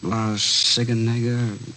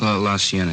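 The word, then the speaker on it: La Cienega: Uh Las Sigenega. Is that how you say it? La Sienna.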